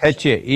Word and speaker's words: Isha: Ishi Isha. Isha. I-S-H-A, Isha.